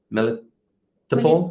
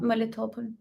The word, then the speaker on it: Melitopol: Melitopol? Melitopol.